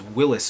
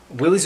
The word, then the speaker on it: Willys: name but in fact willys-overland was Willis overland I think Willy sounds better than Willis so I'm gonna say Willy's but just know that we're all saying it wrong Willy's Overland answers this bid